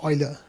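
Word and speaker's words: Euler: ooler uler uler ooler Oiler oer oer yeah because in the name it says Oiler labs and they've got a little barrel of oil just let you know it's Oiler Oiler that's right yeah I know I think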